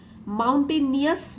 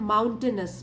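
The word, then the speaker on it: mountainous: माउंटेनियस नहीं होता है, माउंटेनस, माउंटेनस, ये स्पेलिंग मिस्टेक करते हैं यहाँ पे बच्चे, माउंटेनस रोड।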